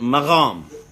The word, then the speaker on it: maqam: call that mcbomb and the persians they pronounce it mahom and the Azerbaijanis they pronounce and move on okay so from the Arabic maqam to the Persian mahom to the Azerbaijani move on it's a very connected